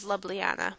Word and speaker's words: Ljubljana: away from the capital, which is Ljubljana, by the way. That's how it's pronounced.